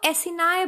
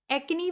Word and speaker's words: acini: इसको एसिनाए बोलते हैं। क्या बोलते हैं? एसिनाए। एक्नी भी बोल सकते हैं, कोई बुराई नहीं है, लेकिन प्रॉपर प्रोनाउंसिएशन इसका है एसिनाए, ACINI, ठीक है।